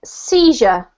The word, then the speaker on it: seizure: This is seizure.